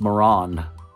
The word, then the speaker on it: Marans: It's just Maran, and I think that's what trips a lot of people up too. It's the S at the end not being plural, but the same pronunciation whether it's single or plural.